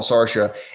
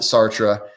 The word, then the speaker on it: Sartre: and and sartre jean-paul sarsha and if you're french i'm sorry i pronounce it sartre or i know it's supposed to be pronounced like or something like that but i'm midwestern american